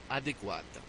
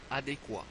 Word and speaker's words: adéquat: français souvent mal prononcés adéquat ne dites pas adéquate dites Adé quo adéquit ananas ne dites